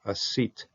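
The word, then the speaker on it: עָשִׂית: A seat. If you would pronounce this with a sheen sound, it would be destroyed.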